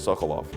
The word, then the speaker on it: Sekulow: And that's how they say it they don't pronounce it secular, it's always Sokolov.